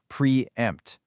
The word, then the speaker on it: preempt: It's a punchy two-syllable word that is heavily weighted on the second syllable, and it rhymes perfectly with the word tempt. Preempt.